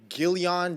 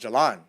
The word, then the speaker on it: Jalan: Gillian. I'm like, oh, sir, it's pronounced Jalan. He's like, oh, so it's pronounced Jalion. I'm like, nah, sir, Sir, it's pronounced Jalan. it's Jalan.